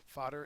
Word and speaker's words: fodder: next we have fodder fodder is a noun uh it is uh the first syllable is accented and it means has